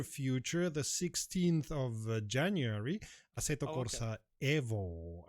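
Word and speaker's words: Assetto Corsa: the 16th of January aeto Corsa Evo as we've decided we're going to call it because it's an Italian company and aeto Corsa is an Italian word and therefore it's um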